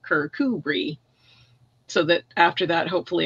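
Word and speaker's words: Kirkcudbright: modern day character say I gave it the proper the proper pronunciation of you know and then you spell it phonetically you know kirkubri so that after that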